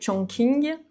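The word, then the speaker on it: Chongqing: Donc j'ai noté trois villes, attention à la prononciation. Shian, Shengdu et Chong King.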